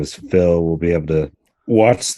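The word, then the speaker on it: Fil: Yeah, and this guy Phil, it's spelled F-I-L. So it doesn't sound so much just like some dude named Phil, you know.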